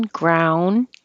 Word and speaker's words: ground: and this one too ground pork you don't hear the D because your tongue just goes to the D position ground and you don't hear